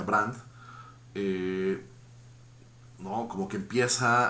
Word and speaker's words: Brandes: bueno, creo que, ¿no?, es como Brandes realmente, pero se pronuncia Brandt, eh, ¿no?, como que